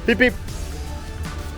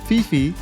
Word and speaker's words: Phi Phi: is people pushing them don't ha they say peep if they want someone walking in front to move it is funny but it works just fine here take a look peep one more important thing I learned after reaching